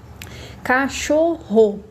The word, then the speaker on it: cachorro: Cachorro. A sílaba, aliás, mais forte é a sílaba do meio.